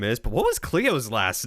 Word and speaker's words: Cleo: is but what was Cleo's last name oh Leo not Chloe sorry yeah Cleo Cleo Cleo he did say Chloe yeah the thing it